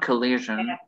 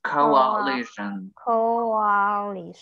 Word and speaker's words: coalition: call it a coalition it's a very hard to pronounce because it's not collision as in crash but it's coalition coalition interesting show colleagues